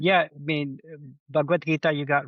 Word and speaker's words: Bhagavad Gita: Is there anything I pronounced incorrectly? So, because please correct what I said. Yeah, I mean, Bhagavad Gita, you got right.